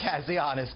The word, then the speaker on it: Kazianis: the Center for National Interest, Harry, can you pronounce it for me, sir? Kazianis? Kazianis, good morning.